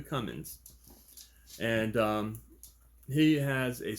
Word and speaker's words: Cummins: by The Fabulous Micah Cummings coming I'm sorry I said his last name wrong it's come in so there's no G like a Cummins and um he has